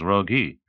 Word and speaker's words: Rogi: but more often simply Uncle Roi pronounced appropriately enough as rogi by those who find